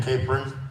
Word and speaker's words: Capron: Capron. That's apron with a C on the front.